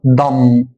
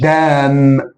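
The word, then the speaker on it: dumb: اقول لام هنا ان جي بعده بي يبقى البي مش هتنظر فهنا هقول ضم مش دام ما انا قلت ايه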